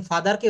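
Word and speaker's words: father: আমরা ফাদার বলি। ইউকেতে যারা থাকে কারো রিলেটিভ যদি থাকে দেখবেন ফাদারকে ওরা র টা বলে না। ফাদা বলে। হুম? ফাদা।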